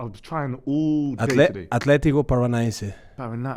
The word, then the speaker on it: Atlético Paranaense: How do you pronounce that club, by the way? I was trying all day today. Atlético Paranaense.